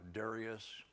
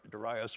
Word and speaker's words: Darius: a decree from uh Darius or or you could say dasas it all depends on the uh symbolic emphasis well you do it or you would say syllable emphasis but so either one daras or Darius uh and I'll show